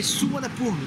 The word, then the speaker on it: Suvarnabhumi: Bienvenue à l'aéroport de Bangkok, prononcé Suvarnabhumi, difficile à dire.